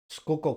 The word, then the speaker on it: Schuylkill: in Schuylkill County, but instead Schuylkill County, that's how you say that. It isn't spelled that way.